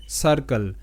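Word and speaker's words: circle: তো সি আই আর সার, এবং শব্দের শেষে সি এল ই যুক্ত বর্ণ হয় না। কাল, সার্কেল।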